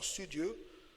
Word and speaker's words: studieux: Une autre fois, X est muet, so silent letters at the end. Ils sont studieux.